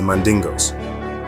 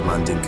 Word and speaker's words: Mandinka: Later on, pages 192, 193, he identified these Jews as the Mandingos, or the Mandinka, tribe in Mali. The term Mandingo is a mispronunciation of Mandinka and was often used